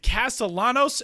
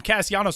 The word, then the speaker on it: Castellanos: But anyway, when he made it to the major leagues, everybody's calling him Castellanos. So I felt so bad because I was like, man, I called this dude by the wrong pronunciation of his last name.